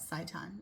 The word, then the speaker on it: seitan: How do you pronounce that? Seitan.